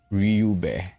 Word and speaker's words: Ryube: Let's see one more, and it's not Ruby, it's Ryube. I'm sorry. It's Ryube.